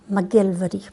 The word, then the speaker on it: MacGillivray: McKeiver McDonald again and mcgillivray no we pronounce that mcgillvary but the way it's